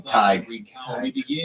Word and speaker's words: Tighe: Tighe. Like tiger.